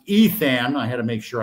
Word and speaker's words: Ithan: We're going to be interviewing Ithan, pronounced Ethan.